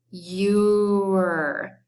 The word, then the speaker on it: you're: So the R makes the sound and the E is silent.